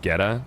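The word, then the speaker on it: goetta: It's pronounced Geta.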